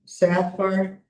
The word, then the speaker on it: Safar: So the company's name is Monaghan Safar S A F A R Safar Safar Yeah, as far as I know that's how you pronounce it.